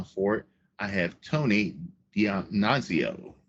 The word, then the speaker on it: Dionisio: I have Tony Dionisio. Did I pronounce that right? It's pretty close. Yeah, Okay. Dionisio. Dionisio.